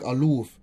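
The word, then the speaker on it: אַלּוּף: Pronounced like Aloof, and having such meaning when a noun as captain, duke, chief, friend, and governor.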